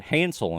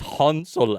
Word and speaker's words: Hansel: my bad side from the get-go because I pronounced it Hansel and grle Hansel Hansel and gr Hansel and grle Hansel and grle and then I had to be corrected H it's it's hansul and gret I'm like what and none of